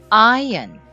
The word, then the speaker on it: ion: 그래서 이온도 여러분들 자 실제로 영어 발음을 한번 살펴보면 ion 이렇게 되는 거예요.